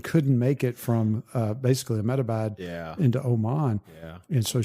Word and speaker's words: Ahmedabad: Ahmedabad, yes.